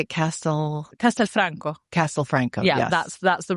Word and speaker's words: Castelfranco: Castel Castelfranco.